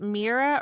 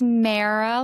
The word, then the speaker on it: Mehera: It's Mera, like Sarah is the best way I would say to pronounce it. Um and and so my brand I'm Mara and then Ara is the reversed and spelled phonetically. So the H is silent in Mara.